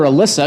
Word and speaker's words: Alissa: So I've called her Alissa because I'm thinking, you know what? I'm going to pronounce it the way it's written.